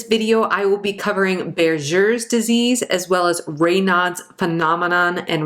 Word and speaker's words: Buerger's disease: First up, we have Berger's disease, and it looks like Berger's disease, but apparently it's pronounced Berger's disease.